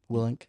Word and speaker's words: Willink: Willink.